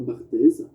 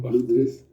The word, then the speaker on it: Barthes: crois, de Roland Barthes, comme il ne sait pas prononcer Roland Roland Barthes, Barthes, il dit Roland Barthez, parce qu'il pense que,